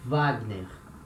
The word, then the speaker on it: Wagner: or like this washington it can also have the sound of v for example we have this name here we say with the sound of v like the composer richard wagner next letter letter x